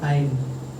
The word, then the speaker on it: hind: अब देखो आपको उच्चारण भी याद हो गया, कोई भी पढ़ेगा तो हिंद पढ़ेगा ना, हिंद पढ़ोगे आप भी, लेकिन इसका अर्थ होता है, मतलब इसका जो उच्चारण होता है वो होता है हाइंड, हाइंड, ठीक।